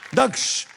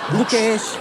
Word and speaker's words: दक्ष: दक्ष। लोग वैसे मुझे क्या बुलाते हैं? लोग मुझे दुक्ष बुलाते हैं, दुकेश, और यहाँ पे आके मुझे नया नाम का वेरिएशन मिला है, दुकुश।